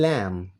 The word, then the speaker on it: lamb: A silent letter in a word is one that is written but not pronounced, such as the b in lamb.